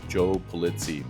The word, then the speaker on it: Joe Pulizzi: Joe Pulizzi, welcome to the show. Hey, I'm happy to be back. Did I pronounce the name exactly right this time?